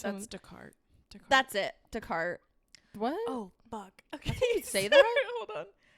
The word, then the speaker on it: Descartes: Immanuel Kant, Plato, or dude, I can't even pronounce. That's Descartes. That's it. Descartes.